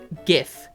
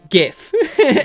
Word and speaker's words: GIF: World Language I mean everyone knows it's GIF and not GIF not GIF whoever says give Jeff is just trying to mess